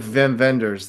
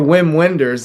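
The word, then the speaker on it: Wim Wenders: Um, it had a very, if you're familiar with Vim Venders, the the German director or Whim Wenders as everybody mispronounces, um, movies like Until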